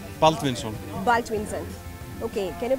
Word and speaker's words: Baldvinsson: Baldvinsson. Baldvinsson. Okay, can you pronounce Drishtidjumnen?